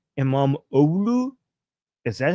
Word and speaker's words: İmamoğlu: So you're saying the G is W. I am imam Olu.